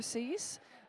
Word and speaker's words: SIS: our audience about sis or do you pronounce it Sis or cease and and you're particularly your engagement for climate please yeah absolutely it's such a pleasure to be here partnering with you all um and yeah we pronounce sis you know American University's